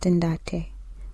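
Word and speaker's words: ntate: He also called Moffat Umbate, which is correctly pronounced Ndate, which is Swana for father, and not Umbaba, which is Zulu for father.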